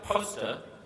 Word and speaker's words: Poster: who is Rand poster it's spelled poster and then in Brackets to help me pronounce it right says poster Randle poster who was